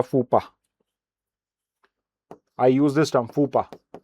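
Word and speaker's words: faux pas: Okay you know you have made a फूपा।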